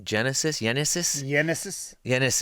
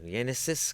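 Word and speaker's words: Génesis: Yenesis. What was the last name? Cabrera, I believe. Yenesis Cabrera.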